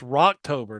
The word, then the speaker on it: Rocktober: You pronounced Rocktober wrong. It's Rotober, not October.